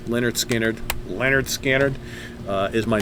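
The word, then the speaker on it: Lynyrd Skynyrd: i know you know that anyway um yeah pronounced leonard skinner leonard scannard uh is my number one and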